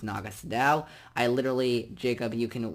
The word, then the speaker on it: Naga Sadow: the tomb of Naga Sadow now they say Nagas a dough which is not how it's pronounced it's Naga Sadow I literally Jacob you can witness this you've